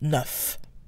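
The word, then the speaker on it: neuf: by a consonant but the F sound becomes a V before a vowel and then finally we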